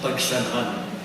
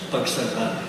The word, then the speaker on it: Pagsanhan: priest who baptized me Pagsi because he couldn't pronounce Pagsanhan. He was freshly arrived in the Philippines from the States, and he could not for the love of him pronounce Pagsanhan.